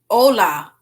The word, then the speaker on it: hola: Wait, don't pronounce the H. Hola.